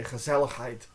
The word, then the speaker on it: gezelligheid: When they say gezelligheid, it comes from the throat. It's very throaty.